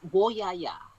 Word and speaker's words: Woyaya: And I'm not sure if I'm going to pronounce this right, but the Woyaya song? It's Woyaya.